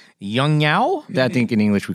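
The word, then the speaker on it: Yongnuo: Yeah, it's Yong Nuo.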